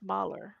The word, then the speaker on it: Mahler: isn't that Moeller? Cursed Oh, us all. Or It's a gorgeous Malar. piece of music. I Millar. think it's Mahler. I think you put the L with the first syllable.